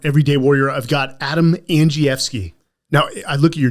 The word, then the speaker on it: Andrzejewski: the Men's Journal everyday Warrior I've got Adam Ang fi now I look at your name that's not how I would pronounce that I was I was given that